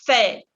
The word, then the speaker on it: fête: Je fais la fête. Y esa E con sombrero también es E accent circonflexe y se pronuncia E, con la mandíbula que cae.